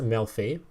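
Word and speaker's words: Melffy: It's pronounced Melfi.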